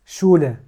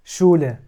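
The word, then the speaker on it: Schule: زون اللي هي الشمس بعدين عندنا اس شولا اس شولا بتنطق زي الشين اللي هي المدرسه واخر كلمه اس شتات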